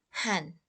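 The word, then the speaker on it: hän: But in Finnish, we just pronounce it han for the female or male.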